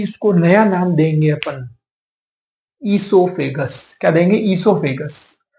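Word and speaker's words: oesophagus: अभी तक आप उसको, आपको पता होगा फूड पाइप बोलते हैं, पर अभी इसको नया नाम देंगे अपन, ईसोफेगस। क्या देंगे? ईसोफेगस।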